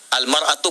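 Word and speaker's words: المرأة: Ya, kalimatnya sama, cuma cara bacanya beda. Al-mar'atu kal mir'ah, yang satu pakai fathah, yang satu pakai kasrah.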